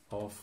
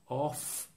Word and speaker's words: of: oh with a V the next word is pronounced of off with an F so when we've won it